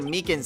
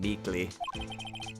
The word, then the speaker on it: Meekins: Actually, Officer Meekins at the detention center told us. That poor little doggy. Poor guy. I keep getting his name wrong calling him Meekly.